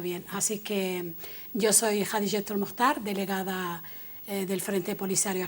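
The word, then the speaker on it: Jadiyetu: Pues lo has pronunciado muy bien, porque la mayoría de las veces lo pronuncian con una J pronunciada al estilo francés y me parece, y yo siempre digo que no, que se pronuncia con la J de Jaén.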